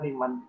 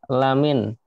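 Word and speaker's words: لَمِن: Anda tadi bacanya liman. Liman. Kalau liman itu artinya apa itu kira-kira? Untuk balik mungkin Pak. Ya, yang benar ini lamin.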